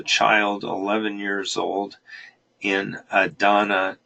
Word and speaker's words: Adana: 11 years old in Adana Turkey Idina as as if I can remember correctly that's how they say it however they had a